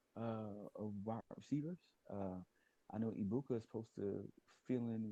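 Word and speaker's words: Egbuka: Is that how you pronounce his name? Ibuka.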